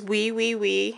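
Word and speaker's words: Oui Oui Oui: This one is Wee Wee Wee. It's spelled O-U-O-U-O-U.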